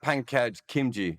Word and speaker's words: Pankaj Khimji: Uh, Talk to me about Pankaj Khimji. I'm pronouncing that correctly, am I?